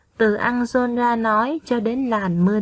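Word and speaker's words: Ăng-giôn-ra: Trước khi đọc, các con lưu ý phát âm đúng một số tên nước ngoài. Các con đọc theo cô nhé. Garrot, Anjolra, Cuốc Phây Rắc.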